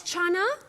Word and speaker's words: chana: It's Chana. Yes, we know that. How's it, Chana? No, not Shana.